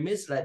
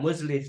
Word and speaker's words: Mizlaj: Oh, Abi Mizlaj ya bacanya. Bukan Muzlij, tapi apa? Mizlaj.